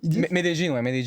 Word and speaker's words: Medellín: Ouais, c'est comme ça que ça se prononce. Je fais des jeans, on dit. Medellín.